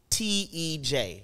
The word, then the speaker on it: Tej: It's spelled out T-E-J. Now, mind you, if you're asking for the Amharic, I won't be able to give it to you. But we would read it as Tej.